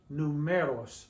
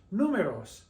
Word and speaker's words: números: If it didn't, it would be pronounced numeros, numeros, but it's números, números, los números.